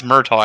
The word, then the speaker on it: Murtaugh: Was the kid killing Murtaugh or Murdoch? I think it's Murtaugh, actually, Corsair. Murtaugh, yeah. They pronounce it weird. Murtaugh. It's spelled one way and it's pronounced the other.